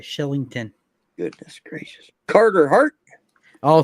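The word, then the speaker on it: Kylington: Sean dery Oliver Killington Shillington where is the c a CH in that that's how they say it Shillington goodness gracious Carter Hart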